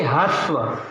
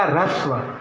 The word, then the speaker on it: ह्रस्व: बहुत सारे लोगों को यदि मैं कहूँगा कि ये क्या है, तो वो इसे क्या पढ़ेंगे, ह्रस्व। लेकिन ऐसा नहीं है, उच्चारण नहीं जानते इसलिए गलत कर रहे होते